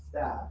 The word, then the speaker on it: staff: Staff. Staff. Stuff. Stuff. And low tongue stiff. Stiff. Stuff. Very good pronunciation.